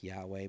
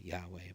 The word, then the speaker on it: Yahweh: know and all that the pronunciation has been lost throughout the ages most probably like Yahweh but you know there there's room for variation in that so rundus Martini Catholic